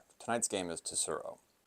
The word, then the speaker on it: Tsuro: Tonight's game is turo. Is it turo or is it surro is silent like in foreigner?